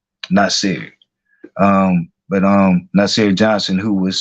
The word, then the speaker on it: Naasire: I know it's spelled like Naasire, but I listened to his family speak, because they held all these vigils. Like even when he was like reported missing, his family was like out, like having press conferences and things like that, trying to get the word out. So they pronounce his name Naasire.